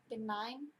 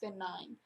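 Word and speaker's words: Ben Nye: it's probably been nine been nine b-e-n-n-y-e i think it's pronounced been nine but i'm not sure maybe i'm saying that wrong all right well this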